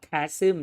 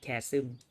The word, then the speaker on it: chasm: เขาอ่านว่า chasm นะครับ chasm.